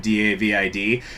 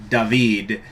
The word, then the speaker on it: David: Have I mentioned this before that English is fucking stupid when it comes to the pronunciation of D-A-V-I-D? Because like every other goddamn language in the world says David, and then in only English they say David, as if there's a Y in it for some reason.